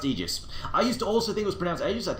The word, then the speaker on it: aegis: saying EO and then I actually looked it up discovered he was pronouncing it right I'm like God damn it God damn it stupid sexy molini why are you always right so as it turns out despite the fact I may think that ages sounds cooler correct ways to pronounce egis so I do that